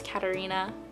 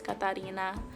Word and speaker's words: Catarina: Here in Willmar, Minnesota, a lot of people say my name as Katarina, or without the accent, but growing up, my name was always Katarina, and I resonate with that.